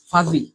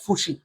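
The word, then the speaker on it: fuzzy: এটার উচ্চারণটা অনেকটা এরকম, ফাজি, ফাজি, ফাজি। উচ্চারণটা হবে ভাইয়া ফাজি, মানে অস্থির অথবা অতি ব্যস্ত, এরকম কিছু মিন করে। আবার ভাই পুজি, না রে গাদারা, এটার উচ্চারণ হবে ভাইয়া ফাজি, ফাজি, নট ফুসি।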